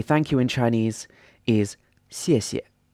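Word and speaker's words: 谢谢: Thank you in Chinese is 谢谢, 谢谢. And the first character is pronounced in a fourth tone, so the pitch goes from a high pitch down to a lower pitch, and the second syllable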